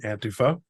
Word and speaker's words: Antifa: an entire book on antifa whereas as you pronounce it probably more accurately antifo you have a is